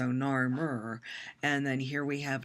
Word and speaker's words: Narmer: This is hieroglyphs, which are kind of hard to see, but there's a chisel that represents the first syllable, nar, and then the catfish, which represents Mur, so Narmer.